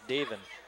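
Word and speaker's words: Daevin: uh daven the master we did a little research david to make sure we are pronouncing it right i hope we are d-a-e-v-i-n yeah we had checked out a couple times so we're going with davin kelly kelly kelly travels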